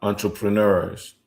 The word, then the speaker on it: entrepreneur: But you got to pronounce it. You have to pronounce it like English people do. Entrepreneur. Uh, you have to pronounce certain words that are French like English do.